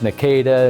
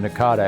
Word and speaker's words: NACADA: organization had been chartered we argued about how to pronounce in a CA da and people still use nakida and Nakata Nakada you know different kinds of pronunciations there probably more that they've used as well but we settled on Nakata as the quote official publication well thinking back